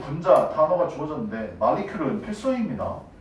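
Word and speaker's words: molecule: 그 다음 마리큐르는 분자 단어가 주어졌는데 마리큐르는 필수입니다.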